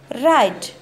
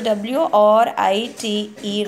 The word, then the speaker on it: write: And write. Got it, children? Here W is silent, so I will teach you later. So W-R-I-T-E, write.